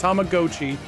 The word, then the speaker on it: Tamagotchi: Tamagotchi, as we realize it's pronounced Tamagotchi.